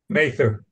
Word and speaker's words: Mather: make it pronunciation right is it Mather field Rebecca mayther mayther mther mayther field in California outside of Sacramento uh